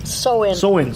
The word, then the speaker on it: Samhain: Ha Halloween has been called All Hallows Eve, like Nancy said, Witch's Night, Lamb's Wool, Snap Apple Night, Samhain, or how did you pronounce it? Sow-in.